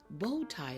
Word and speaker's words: bow tie: Bow tie, on the other hand, the W is silent.